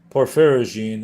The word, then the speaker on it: porphyrogene: How one is to speak or even silently read the word porphyrogene is a nearly complete mystery. I say nearly because one sound is certain, the sound of gene.